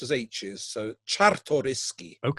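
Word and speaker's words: Czartoryski: The painting uh is best known uh as the Sariski Raphael. Now, have I pronounced that correctly, Vladimar? No, of course not. Not even close. Zeds are pronounced as hes. So, Chtoyski.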